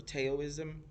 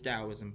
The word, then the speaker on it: Daoism: it's really cool because for like months I would pronounce the word wrong because it starts with a T so I would say taism or taoism but it's Daoism folks it's Daoism okay